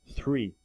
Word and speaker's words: three: praticar muito esse som do TH, mas a pronúncia certa, three.